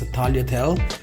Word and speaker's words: tagliatelle: The pronunciation of this one is tagliatelle.